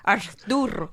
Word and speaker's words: Arturo: It's the Arthur now. Arthur. Arthur. That's not how you pronounce it, but yes. Arturo. Arturo. So like in college when